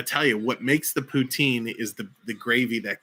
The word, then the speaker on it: poutine: do you get good poutine in ontario i think that's how you pronounce it yes poutine is correct um well gosh jeff